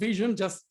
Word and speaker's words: VSHN: So the first thing you have to know about VSHN is how to pronounce the name. It's called VSHN, that's why you have an I in the logo, of course.